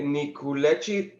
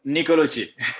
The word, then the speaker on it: Nicolucci: In today's video, Davide Nicolucci. I pronounce it well, Davide? Almost. Nicolucci.